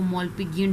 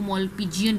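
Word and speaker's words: Malpighian: ये डिफरेंट है, इसको मॉल्पिजियन ट्यूब्यूल्स भी कहते हैं। मुख्तलिफ लोग मुख्तलिफ तरह से इसको प्रोनाउंस करते हैं।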